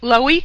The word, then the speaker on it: Loewy: Loewy, we pronounce it?